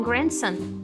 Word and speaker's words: grandson: E o que tá ali de vermelho aqui embaixo, ó, não dá pra ver por causa do fundo, mas aqui em grandson, o D é mudo.